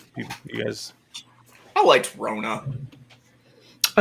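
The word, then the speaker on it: Wrona: you guys i liked rhona i like that w-r-o-n-a oh okay i was like wait a second like yeah roano with the silent w rona that was he south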